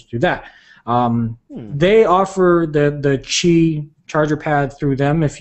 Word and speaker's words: Qi: Oh, pronounced Qi right here.